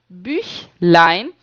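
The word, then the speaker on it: Büchlein: gente já viu que quando eu tenho um out no u, eu faço boca de u e falo i, né? Falo i. Então, das bchline é o livrinho das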